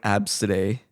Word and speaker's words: Abcde: It's uh it's abcde e and um it's pronounced like abs today and that's like a